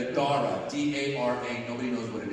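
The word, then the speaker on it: Dhara: So then I found a nice neutral Persian name, Dara, D-A-R-A. Nobody knows what it is. And then my wife wanted to Indianize it, so she added a silent H after the D.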